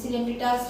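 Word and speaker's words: Coelenterata: और most of द सिलेंट्रेटास क्या होते हैं, उसको सिलेंट्रेटा ही पढ़ते हैं बेटा, उसको जो प्रोनाउंसिएशन होता है वो सिलेंट्रेटा होता है।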